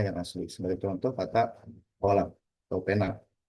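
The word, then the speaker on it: قلم: Dalam bahasa Arab standar atau fusha dilafalkan kolam dengan bunyi qaf yang kuat dari tenggorokan. Berbeda dengan sejumlah dialek Amiyah yang mengubah bunyi qaf menjadi ga atau ka. Jadi dibacanya galam atau kalam.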